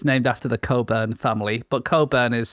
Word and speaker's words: Cockburn: Because it's named after the Coburn family, but Coburn is spelled cockburn.